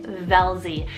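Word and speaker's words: Velzie: we have the name velzy it's about v-e-l-z-i-e velzy this one is again very sweet fun with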